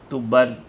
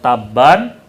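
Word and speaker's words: تُبّان: Tuban. Kalau Taban, Tuban ya bacanya ya. Seluar pendek ini, Tuban biasanya. Ya. Nggak ada. Kalau Taban penjual jerami.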